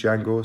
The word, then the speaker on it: Django: get on your knees jango so that's what it says there let's take a look at the spy it says get on your knees dangle yeah they i guess the j is silent and also for the